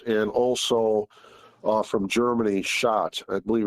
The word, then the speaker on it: Schott: used is from Japan, Ohara, I believe it's pronounced, and also from Germany, Schott.